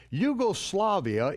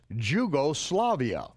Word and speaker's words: Yugoslavia: Yugoslavia is spelled with a capital J, and only Americans mispronounce it as Jugoslavia.